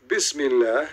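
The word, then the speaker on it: بسم الله: You see, the word in the top, it says, Bism Li Lah. Do you see it? This is the Muslim trying to teach you how to pronounce it.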